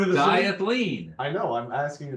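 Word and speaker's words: Dyath-Leen: Diathleen. I know, I'm asking you to spell it.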